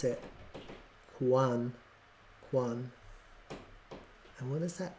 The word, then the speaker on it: QANX: an alert oh it tells you how to pronounce it Quan Quan and what is that qus qus Quan